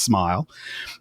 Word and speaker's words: smial: We have suggestions in a draft of Appendix F that Tolkien intended it to be pronounced smile, and that's what most people pronounce it as.